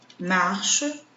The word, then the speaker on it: marches: Observe que, apesar de eu ter a letra S aqui no final, eu não pronuncio, né? Nós já aprendemos que na língua francesa, quando a palavra termina em consoante, nós terminamos a pronúncia normalmente no som vocálico. Então, a pronúncia da primeira é igual à segunda.